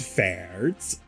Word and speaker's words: Faerdts: i have named him fairs uh the d is silent his name is fairt um and uh he's